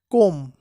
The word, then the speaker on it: comb: কোম, COMB, এখানে বি এর উচ্চারণ হবে না, উচ্চারণ হবে কোম, অর্থ হচ্ছে চিরুনি বা চিরুনি দ্বারা আঁচড়ানো।